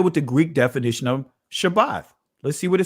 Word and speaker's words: shabbat: is a greek pronunciation sabbath is a greek pronunciation shabbat is the actual pronunciation so when you hear me say shabbat guess what when you hear others say shabbat with a thaa right that's letting us know that that's ain't that's hebrew that's ancient hebrew